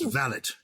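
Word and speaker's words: valet: and we'll come onto the valley which is correctly pronounced valit in my view but who would bring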